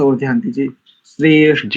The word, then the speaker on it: श्रेष्ठ: श्रेष्ठ, यानी एक ठसक आनी चाहिए, एकदम से बहुत गाढ़ा दबाव आता है जब हम ऐसे अक्षरों का उच्चारण करते हैं, महाप्राण वाले अक्षरों का। जैसे देखो मैं बोलूं श्रेष्ठ, तो ठा बोलते ठसक सी आती है कंठ से हृदय प्रदेश तक।